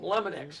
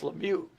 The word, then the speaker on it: Lemieux: Le call him Lemonex. It's It's Lemieux.